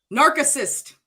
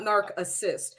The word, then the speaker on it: narcissist: Narcissist. That's how it's spelled, though. Okay. I thought it was narcissist. Narcissist, not narc assist.